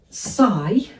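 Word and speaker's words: sigh: this is making you PSI have a go at that one s and I because of course the GH are silent letters so s i do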